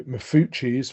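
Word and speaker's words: Maffucci: So mafuis which is spelled m af u c so two fs and two c's uh is uh essentially olia's disease with um hemangiomas which calcify and become flleoliths.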